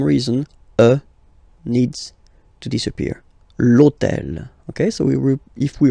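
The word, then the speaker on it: l'hôtel: starts with Ash but remember that in French we don't pronounce Ash okay so basically the first sound of the word is the vowel o okay so for the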